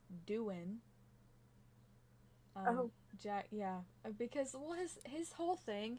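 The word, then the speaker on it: Doohan: Alpine um Jack okay apparently I've been saying his name wrong I say Duan um but apparently it's Doan Jack yeah because well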